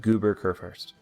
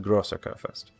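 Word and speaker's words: Großer Kurfürst: been pronouncing this wrong it is not goober kurfurst it is the grosser kurfurst so and i probably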